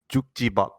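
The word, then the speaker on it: 축지법: the pronunciation is Jukjibak. Okay, Jukjibak.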